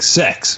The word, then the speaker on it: CeX: It's not pronounced CEX. Yes. No, it's sex, isn't it? Is it sex?